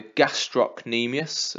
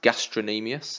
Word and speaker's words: gastrocnemius: the calf we have the gastrocnemius often wrongly pronounced gastrin amias there was a C in the middle of the word gastrocnemius and that's the the